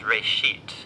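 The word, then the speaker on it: ראשית: Genesis comes from a Hebrew word, it's pronounced reshit, and it just means beginning.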